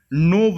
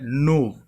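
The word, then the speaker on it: gnaw: देखिए नोव लिखा हुआ है, क्या लिखा हुआ है, नोव। यहाँ पर जी साइलेंट है।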